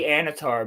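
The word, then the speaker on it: Annatar: So that's supposed to be Anatar, but he has the same face.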